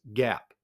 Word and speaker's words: GAAP: And financial accounting follows something called generally accepted accounting principles GAP pronounced GAP.